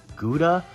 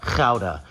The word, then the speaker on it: Gouda: Speaking of our food, you know the cheese that everyone in the store gets and pronounces Gouda? It's actually pronounced Gouda.